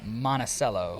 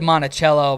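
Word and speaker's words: Monticello: I almost said Montichello, but I was like, so many people say Montichello. I can't remember. There's like a there's no H next to the C in No, but there's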